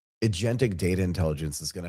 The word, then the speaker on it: Alation: Did I pronounce that right? Alation? That's right. It's called Alation.